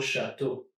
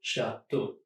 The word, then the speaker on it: château: Beau, comme de beaux châteaux. Here, E, A, and U all together just make an O sound, and the X is completely silent. Beau, beau, de beaux châteaux.